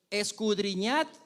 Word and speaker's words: escudriñad: Y la Reina Valera dice, escudriñad, ahí tiene una D que se nos hace súper difícil pronunciarla, pero esa D tiene una razón de ser.